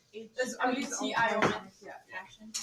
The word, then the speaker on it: cation: the emphasis on the wrong syllable. So just any of What? these that are positive? Wait, where? Cat ion. Cat ion. Instead of putting it on the second part, put it on the first.